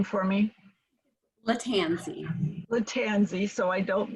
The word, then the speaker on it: Lattanzi: we have the honor of having maria maria pronounce your name for me latanzi the tanzi so i don't mispronounce who is